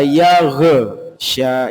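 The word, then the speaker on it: يغشى: lebih enak kadang idza yag Sya yag nah G ini perlu kita latih untuk menahan yagsya tidak sampai memantul seperti itu ng baik Mari kita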